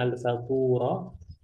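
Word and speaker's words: الفطور: Al-fatur, ini cara bacanya al-faturah.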